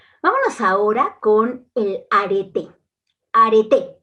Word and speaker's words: areté: ahora con el arete arete no es arte es arte con acento en la e y para esto es